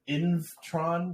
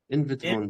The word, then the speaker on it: Invtron: Is it Invtron? What? How do you say it? Invitron DAO. Invitron. Okay.